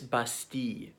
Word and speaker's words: Bastille: I mean, really it's Bastille, but for some reason in English we just pronounce that word our way.